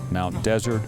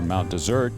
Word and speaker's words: Mount Desert: and by the way you can pronounce it Mount desert or Mount desert the original is French 16004 champagne it doesn't matter um this building was